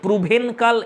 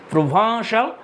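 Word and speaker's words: Provençal: Dear friends, এটা একটা French শব্দ, দেখো বানান অনুযায়ী প্রুভেনকাল এরকম হয়, কিন্তু এর প্রোনাউন্সিয়েশনটা হবে প্রোভাঁসাল সং।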